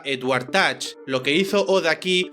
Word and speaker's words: Edward Teach: llamaban barba negra y su nombre real era Edward teach y se pronunciaba Edward Touch lo que hizo od